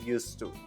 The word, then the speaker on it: used to: used to like vegetables an important point about pronouncing used to the D sound isn't pronounced also notice how when